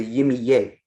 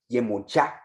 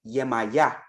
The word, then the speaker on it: Yemoja: What the fuck is a Yimiye? In Nigeria, Yemoja. In the Caribbean, Yemaya.